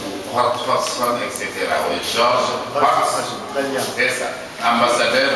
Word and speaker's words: Hodgson: Oui, Georges Hodgson.